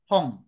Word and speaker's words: 本: はい。じゃあ次。next。これは Hon. 本。 on, Okay. Inilah yang kata tadi dia bunyi macam NG lah. Hong.